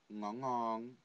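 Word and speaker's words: ngủ ngon: Whenever you have the initial NG sound, it's pronounced as ng, ng, ng, not nigga, not nigga, ng, ng.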